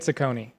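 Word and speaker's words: Cecconi: Slade Sakone.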